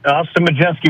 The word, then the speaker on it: Majeski: Do I have it right? You got it. Austin Majeski. Once you learn how to say it, don't look how it's spelled again, because it'll confuse you.